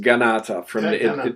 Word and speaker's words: Kanata: And it's actually pronounced Ganata. It's actually a Six Nations word where the word Canada comes from.